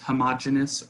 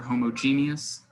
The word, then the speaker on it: homogeneous: There are pure substances which are always homogenous or homogeneous. It's the same word just different pronunciation.